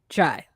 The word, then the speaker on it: chai: saying chai so like let me just tell you right now it is just chai it's chai that is what how you say it in the language um so that's the